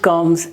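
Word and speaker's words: comb: so are you clear the rule is bar sound when it comes at the end of a word after mass on both are by labels on it is normally not pronounced so let me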